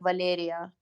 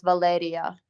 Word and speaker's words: Valeria: So like in Russian, you'd say my name would be like Valeria, but in Ukrainian it's Valeria, and it's a little bit different, but I quite enjoy doing it.